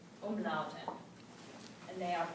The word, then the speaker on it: Umlaute: Umlaute. And they are pronounced a little bit differently.